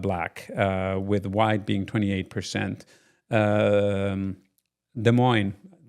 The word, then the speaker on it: Des Moines: Des Moines, is how you pronounce it here in the States, right?